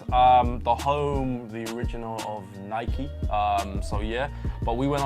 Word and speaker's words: Nike: home, the original of Nike. So yeah, but we went over for... That's the first time that we've done this show. I said it right. That you said Nike. I know. And not Nike.